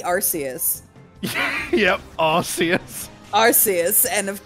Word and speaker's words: Arceus: That's the same reason they changed the pronunciation of Arceus, the Pokemon, because it used to be Arceus.